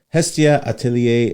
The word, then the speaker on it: Hestia Atelier: And Hide is currently the CEO of Hestia Atelier, an architectural firm out of Irvine. That is correct. Did I pronounce that right too? Yes, sir.